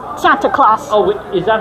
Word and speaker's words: Santa Claus: I've dressed up like Sandy Claus. Sandy Claus. So it's Santa Claus.